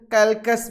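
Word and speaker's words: Calchas: कहीं कहीं आपको इसका प्रोनाउंसिएशन कैल्कस भी मिल जाएगा। कैल्चस की डॉटर है क्रेसीडा।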